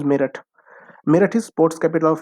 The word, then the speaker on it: Meerut: Next is Meerut, or Meerut, don't go spelling wise, but its pronunciation is Meerut.